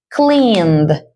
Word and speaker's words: cleaned: Cleaned. Cleaned. Cleaned. Es una D suave. No haces un sonido fuerte aquí, simplemente con la D.